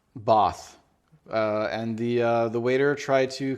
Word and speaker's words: Bath: It's pronounced Bath. Bath.